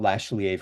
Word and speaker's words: Lach: So, my name is Lashier for those who might be wondering like how do you pronounce the last name?